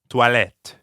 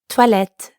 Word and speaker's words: toilettes: There's an S at the end of the word for bathrooms, even though you don't pronounce it. Toilette. Toilette.